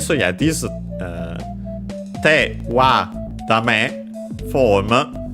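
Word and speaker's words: ダメ: I think accented on the second syllable, the last syllable, yes, dame, which means no good,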